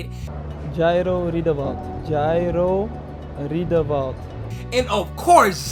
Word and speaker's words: Jairo Riedewald: Jairo Riedewald.